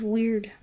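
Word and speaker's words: wyrd: In Norse mythology, we have what's called the web of weird. So it's the web of weird. Weird. Weird is spelled W-Y-R-D.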